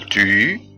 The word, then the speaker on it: tu: ما ينفعش اقول تو، غلط، انما اقول tu.